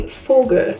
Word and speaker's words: Vogel: But here, when we're talking about a bird, it would be Vogel. So the V is an F.